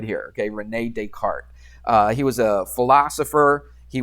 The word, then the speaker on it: Descartes: He wasn't just a mathematician, and we say Descartes. That S in French is, I don't know any French. I never took a French class in my life, but you pronounce that Descartes.